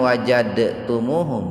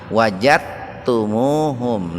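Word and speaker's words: وَجَدْتُمُوهُمْ: Jadi membacanya jangan wajadtumuhum Pak, bukan qalqalah itu. Haitsu wajad, nah, itu salah itu. Ini disebutnya idgham muttaqaribin itu. Jadi huruf dal dengan huruf ta itu dekat Pak, dekat. Maka membacanya diidghamkan, dimasukkan ke ta, wajadtumuhum.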